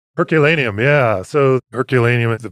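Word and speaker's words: Herculaneum: went to the herculanum I think it's pronounced herculanum yeah so herculanum is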